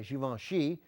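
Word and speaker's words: Givenchy: And Heepern's wardrobe designed by Giovenon Xi, which I've just been told how to pronounce and now I'm saying it that way for the first time in my life, set a timeless standard in fashion that is still followed today.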